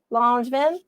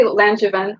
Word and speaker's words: Langevin: Langevin. You can pronounce it that way if you want. It sounds better. It's actually Langevin with like a hard G.